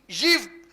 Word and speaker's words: ewe: EWE, यीव, उसका pronunciation है यीव, EWE, यीव।